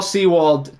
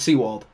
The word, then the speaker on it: Sewald: It's time for Paul Sewald to pitch. That is how you say his name. Well, urinating tree's wrong. It's Sewald.